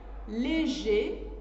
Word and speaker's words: léger: Léger, la lettre muette c'est R.